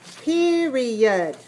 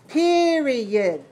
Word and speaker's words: period: Okay, some of you are making the last syllable to open. I want you to make it softer, smaller. Not period, but period. Period. So the last syllable is your mouth is closed more.